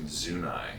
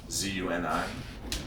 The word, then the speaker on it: Zuni: telling me that uh we've all been pronouncing zunai incorrectly how do you spell zunai z-u-n-i yeah so i mean it could very well be zuni but then people look at you if you say that like you're an idiot yeah i'm pretty sure